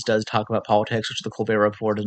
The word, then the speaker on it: The Colbert Report: of the reasons I like the Daily Show is because it does talk about politics, which the Colbert Report does not seem to have.